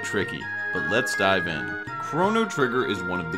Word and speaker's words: Chrono: Well, supporters of the pronunciation Crah-no say it has more to do with the title and themes of the game more than anything. Crah-no supporters believe that because the game's entire plot has to do with time, that the name references the word chronology. And since this word is pronounced differently, does this mean that